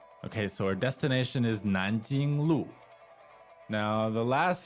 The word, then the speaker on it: Nanjing: All right, so the tones on Nanjing. Second and first. Nanjing, Nanjing, Okay, so Nanjing Road again.